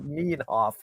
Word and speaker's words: Nienhoff: He says, okay, it took me a few minutes, but the pronunciation would be more like Nienhoff.